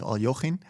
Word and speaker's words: Alekhine: You could almost add, unfortunately, it was of course Alexander Alekhine, or closer to the Russian pronunciation is, I believe, Alyoshin.